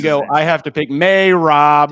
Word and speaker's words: Merab: You go I have to pick May Rob. That's how you say it.